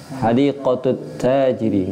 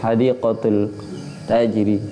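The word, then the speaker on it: حديقة التاجر: Alif lam syamsia. Maka dia bacanya pakai tasjid. Hadiqatut tajiri. Enggak mungkin. Hadiqatul tajiri. Enggak bisa.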